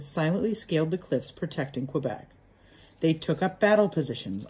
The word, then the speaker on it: Quebec: french the battle of quebec or quebec they call it quebec affair that's how you say it in french quebec quebec was the